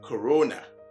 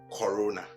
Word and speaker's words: corona: That is, again, the CO is gleaned from the first syllable of this word, pronounced corona instead of corona.